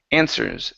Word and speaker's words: answers: Okay, in this word, the W is silent. So instead of saying answers, they're, let's see here, they're answers with one another.